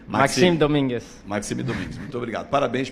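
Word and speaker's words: Maxime Dominguez: Se é Maxime, qual é a pronúncia? Maxime Domingues.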